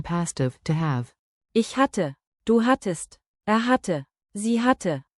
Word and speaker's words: hatte: Keep the double T crisp. Hatte, hat test, hat 10.